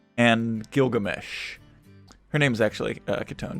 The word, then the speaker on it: Kitone: Her name's actually Kitone. Don't pronounce it Kit 1 unless you're memeing.